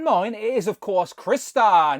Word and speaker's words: Crystar: And not forgetting your favourite and mine, it is of course Crystar, not Crystar, despite the comments telling me I'm saying it wrong. It's Crystar, like a crystal.